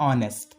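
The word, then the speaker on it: honest: ऑनेस्ट, तो यहाँ पे आप देखेंगे एच साइलेंट होता है तो इसको पढ़ते क्या है? ऑनेस्ट।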